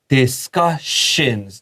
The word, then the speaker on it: discussions: We have discussions. 这个 ss 发 sh，写下来。And then planned，因为这个是重音，那个